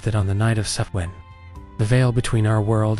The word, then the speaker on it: Samhain: The transition between these two halves was marked by a festival called Samhain, pronounced Samhain.